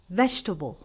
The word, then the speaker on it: vegetable: We need to pronounce it as vegetable because this has nothing to do with a table.